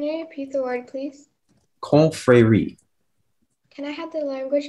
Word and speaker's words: confrérie: Speller 25, your word is confrérie. Can you repeat the word, please? Confrérie.